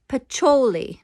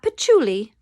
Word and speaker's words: Pacioli: keep interrupting but actually the correct pronunciation is luca pacholi not patchouli pacholi glad i could help